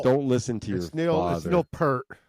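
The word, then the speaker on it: Peart: good quote here from Neil per Pier is it oh you said it right the first time per yeah I yes I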